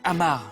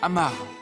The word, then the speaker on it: Amar: Vous le prononcez à la manière anglaise. C'est Amar, Amar.